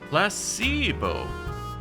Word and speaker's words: placebo: after me Placebo H the stress is on the middle syllable placeo okay very good